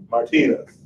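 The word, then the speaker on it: Martinus: He said, well, it's spelled M-A-R-T-I-N-U-S, Martinez.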